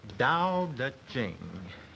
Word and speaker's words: Dao De Jing: It's pronounced Dao De Jing, if we want it in the Chinese.